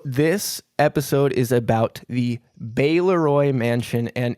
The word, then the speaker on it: Baleroy: So, this episode is about the Beroy mansion. And in the intro, I pronounced it Baloy incorrectly, even though I had just looked it up 2 minutes before.